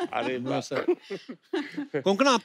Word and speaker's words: कोंकणा: आई am sure अगर आपको कोई पंजाबी मिले वो हमेशा कंकना बोलेगा.